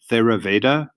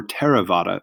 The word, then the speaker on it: Theravada: first in original sect is known as Theravada Theravada or tera vaada buddhism all our correct pronunciations so it's Orthodox or